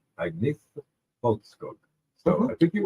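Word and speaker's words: Agnetha Fältskog: there, and it was something like Agnetha Folkskog.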